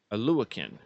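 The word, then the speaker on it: Oluokun: he's definitely above average um how do you pronounce his last name a luakin okay yeah it's a tough one but uh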